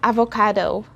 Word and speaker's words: avocado: say alvo in tagalog we don't have that long o sound so instead of just saying avocado it should be avocado again avocado you will hear the long o sound at the end instead of saying though you have to say it though one more time avocado